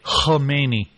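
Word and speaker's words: Khamenei: By the way, I saw a very pretentious news person pronouncing it with a silent K. Kmeni.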